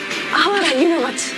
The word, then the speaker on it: 芦原: あわらって読むんですね。